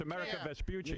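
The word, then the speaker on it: Amerigo Vespucci: And you said it wrong. It's America Vaspuchi.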